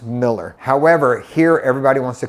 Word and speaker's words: Mueller: area of East Austin it's actually pronounced Miller however here everybody wants to call it Mueller whichever way you go the correct pronunciation is actually Miller some other areas of